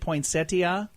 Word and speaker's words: poinsettia: It's National Ambrosia Day, National Ding-a-Ling Day, Gingerbread House Day, Poinsettia Day, or how do you say it, poinsettia? I've heard it both ways. I say poinsettia.